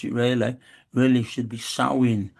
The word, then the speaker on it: Samhain: Of course, it's not the right way to pronounce it, really. Really should be Samhain, Samhain, Samhain.